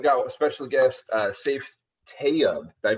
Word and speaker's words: Tayub: We interview real estate investors, we interview entrepreneurs, and today I've got a special guest, Saif Tayeb. Did I pronounce that right, Saif? Tayeb. Tayeb.